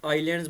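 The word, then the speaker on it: islands: पता group of आइलैंड्स ये आइलैंड्स में ये एस साइलेंट रह जाता है इसको हम आइलैंड्स बोलते हैं ठीक है जजीरे जिसको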